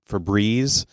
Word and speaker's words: Febreze: There's Febreze. It is not breeze like the wind. It actually only has one E, so it has a single E.